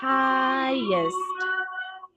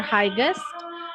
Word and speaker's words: highest: pronunciation is high and highest. So it's not hike or highest but highest just like when you pronounce highlight highlight uh or highlighter something like that.